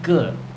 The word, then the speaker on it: 个: So let's get on to it. The magic count word is ge, okay? And that is spelt in pinyin G-E, ge.